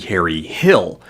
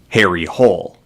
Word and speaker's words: Harry Hole: Which, if you were to translate to English, would be Harry Hill. But the filmmakers opted not to keep the proper Norwegian pronunciation, nor to translate the name, but instead to just anglicize it to Harry Hole.